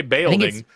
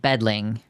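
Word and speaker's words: bædling: I don't know how to pronounce the AE thing. I think it is just the the sounds of ae together. So, I'm going to say baing. It's ed. Bedling.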